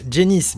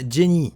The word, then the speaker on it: Jenny: depuis tout à l'heure je prononce jenniss mais on parle ici de la version française alors que dans la version originale à la monnaie se nomme jenny je cesse remettre un